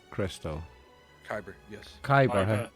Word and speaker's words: kyber: it's a very living creature was it the Tyber Crystal kyber yes kyber how do you spell that oh kyber Crystal uh uh I think